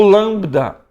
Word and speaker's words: lambda: O lambda, tem que tomar cuidado porque às vezes nós pronunciamos o L como U. No grego é le. Então, lambda, mesmo que estiver no meio ou no fim, tem esse som de lá, a língua acima do dente ali, lá.